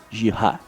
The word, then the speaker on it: Girard: É um método, né, criado por um matemático francês chamado Albert Girard. Assim se pronuncia.